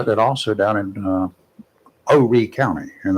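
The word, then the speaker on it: Horry: And uh then also down in uh Ori County and that's the correct pronunciation is Ori.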